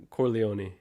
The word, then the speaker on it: Corleone: Corleone.